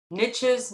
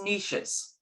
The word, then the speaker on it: niche: And it has two different ways people pronounce it: niches, niches. Some people hate niches, niches.